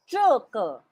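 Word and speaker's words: 这个: je, ko, je, ko, Zheke. je, ko, Less of the J. Zheke.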